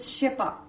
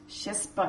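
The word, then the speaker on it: ཤེས་པ: Then, the English word consciousness in Tibetan is shepa. Shespa, it's written shespa, but it's actually pronounced shepa.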